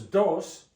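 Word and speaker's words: doce: do do two is Dos 12 is do with a c 13 TR like a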